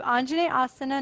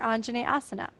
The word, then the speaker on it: Anjaneyasana: how it changes your Anjaneyasana. But first, let us pronounce it. So syllable by syllable, Anjaneyasana, Neyasana, Jane, Anjane, Anjaneyasana, Anjaneyasana, Anjaneyasana.